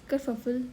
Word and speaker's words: kerfuffle: So hello everyone, today's word of the day is kerfuffle. Simply, what does kerfuffle means? Its pronunciation, you can note it down.